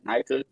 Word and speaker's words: Nyca: You remember the y'all remember the Bosnian battle rapper I was telling y'all about Nika? This nigga can't remember. Mind you, Nika's name is spelled Nyca, right?